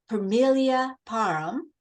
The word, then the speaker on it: Permelia Parham: of life will be and my guest today Familia Parham I think I pronounced that almost right you did perfect um